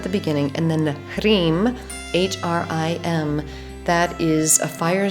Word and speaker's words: Hrim: So this one has Om at the beginning, and then the Hrim, H-R-I-M, that is a fire syllable. So it's involving the H is related to the breath, so the Ha, so Hrim, and then the R is a fire consonant.